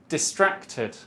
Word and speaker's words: distracted: Distracted. Distracted. Distracted. Distracted. Second. Where is the stress? 1, 2, or 3? Three. Addicted? No. The second one. It's the same as distracted.